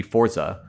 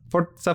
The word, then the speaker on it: Forza: I mean, if it's Italian pronunciation, it would be Forza. Because the sounds more sophisticated to say Forza. Yeah, it does. And I think you need the double Z for Forza, like pizza or piazza.